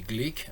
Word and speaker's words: Glück: Ça s'écrit Gluck mais ça se dit Glick apparemment.